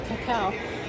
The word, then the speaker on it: cacao: latter how to pronounce cacao cacao pronunciation just like in cut or cowardly cocoa pronunciation just like